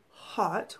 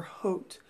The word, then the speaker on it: haute: Okay, so this is number 103, Red Haute or Haute. It's spelled like Haute, as in like haute couture.